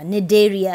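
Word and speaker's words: Cnidaria: we move on to phylum nedaria also known as celentarata naderia c is silent okay examples hydra jellyfish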